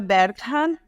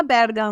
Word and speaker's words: Berghahn: E o sobrenome pronuncia Berghan, mas a gente costuma falar Berghan, né? Para facilitar a vida das pessoas.